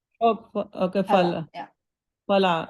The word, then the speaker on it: फल: It's Phala, not Phala. Oh, okay, Fala.